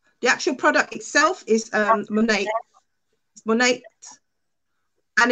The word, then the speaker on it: Monat: The product, the actual product itself is Monate, and it's shampoo and conditioner. Two in one. So it's Monate.